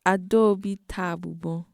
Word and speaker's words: Adaobi Tabugbo: It's pronounced Adaobi Tabugbo.